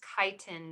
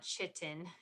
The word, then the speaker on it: chitin: at cellulose and chitin that's pronounced chitin not chitin so let's first look